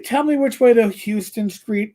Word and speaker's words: Houston: know you're from new york city when you pronounce houston street correctly it's not houston it's houston i used to work your house in sweden